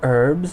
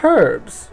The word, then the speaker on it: herbs: You say herbs, and we say herbs, because there's a fucking H in it.